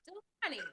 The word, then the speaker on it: Dulani: Dulani. Keep going. It's not the worst I've heard. You're fine. I've heard it butchered and chopped up way worse.